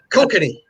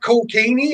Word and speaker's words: Kokanee: Or as some people said, is that cocaine? And I said, no, that's Kokanee. Different. They put the emphasis on the wrong emphasis on the right syllable.